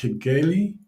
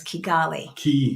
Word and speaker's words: Kigali: yeah on the continent is how do you pronounce it Gali no you spelled it wrong it's Kigali you added an extra oh yeah did I